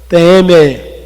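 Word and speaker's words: τιμή: E eu queria que essa palavra honra, no grego, é time. Na verdade, a pronúncia é teme, que significa valorização.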